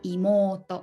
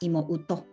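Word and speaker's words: いもうと: Again, so u, written u pronunciation, or imoto, not imouto.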